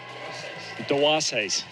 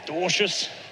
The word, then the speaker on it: Dwarshuis: came on air today, about his name as it would be pronounced in Dwarshuis in Afrikaans. So that's how's the pronunciation is meant to roll, but very Australianised version of Dwarshuis, Dwarshuis.